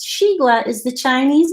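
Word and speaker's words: xigua: of the veggies all here's the way it pronounced it Sheila that's the one with the X Sheila is the Chinese name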